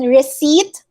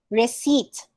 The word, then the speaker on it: receipt: restaurant okay it's restaurant and then receipt silent p receipt coupon not coupon okay